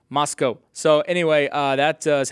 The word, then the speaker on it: Moscow: 7 p.m as well from moscow spelled like moscow pronounced moscow so anyway uh that